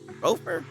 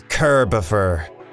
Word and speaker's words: Kerbifer: Kerbopper? Gopher? Gopher? It's Kerbifer.